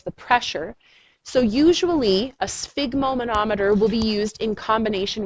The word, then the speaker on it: sphygmomanometer: name of the tool it is called a sphygmoma no meter a sphygmomanometer it's most commonly called a blood pressure cuff but that is the technical name sphygmomanometer sphygmomanometer and that's the name of the tool